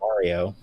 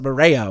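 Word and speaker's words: Mareyo: And his little sister, Mareo, I believe is how that's pronounced. I'm going to call him Mario. Okay. Throw some respect on her fucking name. What the hell? It's Mareo, okay?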